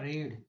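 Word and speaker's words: read: अब आएगा रीड जो मेन वर्ब है वो और थर्ड फॉर्म हो चाहे सेकंड फॉर्म हो सब में स्पेलिंग सेम रहती है। उसका उच्चारण अलग-अलग हो जाता है। रीड रेड हीट इस तरह से और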